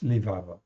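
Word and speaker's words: לבב: Donc lévave ou lébab, et ça se prononce lévave.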